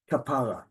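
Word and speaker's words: כפרה: emphasis and listen again the stress kapar second syllable stress not the last syllable okay kapara term of endearment sweetie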